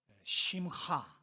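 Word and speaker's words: שִׂמְחָה: 그래서 확실하게 오늘 제목이 심카 토라, 심하 히브리 단어 우리 발음으로는 잘 안 돼요. 심하 이런 심하 히브리 발음.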